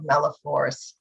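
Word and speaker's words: malaphors: fun i don't know whether you've heard of meloforce uh but i'm apparently quite good at it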